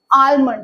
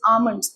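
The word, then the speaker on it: almond: कुछ चीजें, प्रोनाउंसिएशन होता है, हम बोलते हैं आलमंड, इट्स नॉट आलमंड, इट्स आमंड्स, L silent होता है आपका, राइट.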